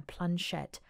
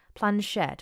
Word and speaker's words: planchette: the modern play let I'm saying it wrong I plunge shet planchette which is what I